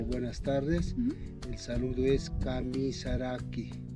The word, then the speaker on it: Kamisaraki: El saludo es Kamisaraki. Kamisaraki.